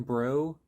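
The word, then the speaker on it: Breaux: Brandon Bri- Brial, Brandon Brew, I think. I don't know. I think I've heard it pronounced Brandon Brew.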